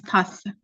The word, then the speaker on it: Tasse: Tasse. In the alphabet. we pronounce Tasa.